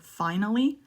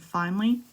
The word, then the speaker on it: finally: okay if you say finally but two syllables and finally makes you sound more native and number five there